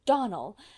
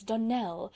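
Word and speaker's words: Donnell: "Clarice Almra told me that you pronounced our name Donald. Now, Miss Shirley, the correct pronunciation of our name is Donell, accent on the last syllable.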